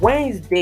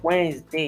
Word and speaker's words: Wednesday: you have to breathe every week we have wednesday it is not white next day it is wednesday you can see epm wednesday moving on we